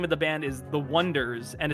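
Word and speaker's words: Oneders: And the name of the band is the Wonders. And it's supposed to be spelled like O N E like dur like wonders.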